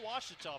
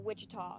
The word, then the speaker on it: Ouachita: to play in the second half harding 54 washita 52 this is the ouachita sports digital network